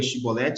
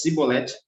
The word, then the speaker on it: Chibolete: Lá em Juízes 12, versículo 6, diz assim, então diga Shibolete, se ele dissesse Sibolete, sem conseguir pronunciar corretamente a palavra, prendiam e matavam no lugar de passagem do Jordão.